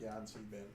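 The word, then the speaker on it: Yan-C-Bin: Yancy Bin, Could you spell that for me? YANC-BIN. Oh, it's like Yancy Bin.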